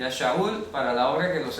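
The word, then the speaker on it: שאול: Pero no es Saulo, ese es el intento griego de pronunciar la palabra Shaul.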